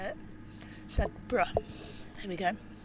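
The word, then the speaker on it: Sedbergh: Sedborough.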